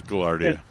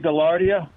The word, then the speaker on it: gaillardia: Yeah, it's gaillardia. Is that how you say it, gaillardia? Yeah. Okay, because my altar boy Latin was messing with my head. Oh, yeah. Well, I think that's the English version.